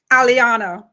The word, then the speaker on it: Eliana: If I mispronounce the child's name, it's Eliana. Aliana. Aliana. See what I'm saying? I said Ellie, like Alvin Ailey, the dancer.